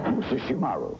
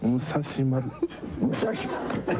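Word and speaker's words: Musashimaru: Musa Shimaru. Musa Shimaru. The R is hard.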